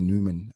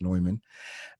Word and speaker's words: Neumann: when i see a newman a neumann uh which is a german brand that's that's how it looks like new but it's pronounced neumann i always get excited